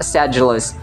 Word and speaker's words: sedulous: This word is pronounced sedulous. Notice the D sound is actually J.